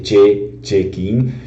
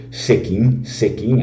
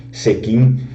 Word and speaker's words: Cecchin: gli altri là dell'Italia, gli altri a dire Cecchin, però qua la mia mamma, la mia nonna, sempre ho ascoltato di tutta famiglia che sti nomi gli diceva per esempio Sechin anche se si scrive con la C, Sechin, mi vedeva che